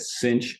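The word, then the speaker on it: sinh: which we call s-i-n-h-x i usually pronounce that cinch x and that is defined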